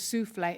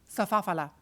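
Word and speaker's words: soufflé: Come Dine With Me, was souffle, and she pronounced it safafala.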